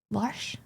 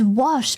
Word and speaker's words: wash: Many American English people are guilty of war. Worsh. Worsh. Worsh. What's wash? Wait, what's wash? Oh, it's wash.